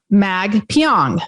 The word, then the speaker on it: Magpiong: to pronounce his name it's like exactly how it sounds mag pyong so if you're not